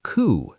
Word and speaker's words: coup: Also, coup. C O U P. Coup like a coup d'eta. Very French.